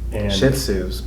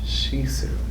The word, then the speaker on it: Shih Tzu: How did you pronounce that? Shih Tzu. Shih Tzu. In South Texas, they pronounce it different, but Shih Tzu.